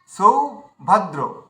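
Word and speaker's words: সৌভদ্র: কি ধসদা ধসদা আচ্ছা সভদ্র তো আমরা কি করব সৌভাদ সৌভাদ্র সৌভাদ সৌভাদ্র এভাবে উচ্চারণ একটু থেমে যেতে হবে মানে টানা না যেন আমরা উচ্চারণ না করি সৌভাদ্র এভাবে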